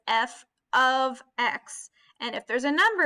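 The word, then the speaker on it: f(x): Remember that this right here, this F parentheses X parentheses, you pronounce that as F of X.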